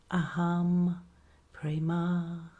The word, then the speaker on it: Aham Prema: I'll spell it Aham Prema. Aham Prema.